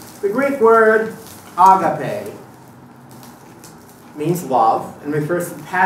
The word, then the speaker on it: agape: by many Christians of agape. I like to put the emphasis on the last syllable because we know more